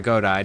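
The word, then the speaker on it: Godi: And we would get a Gothai or a Godai depending on which variation of the translation you want to use, because there's G-O-T-H-I and G-O-D-I. Both are actually the same exact thing, just pronounced differently and spelled differently.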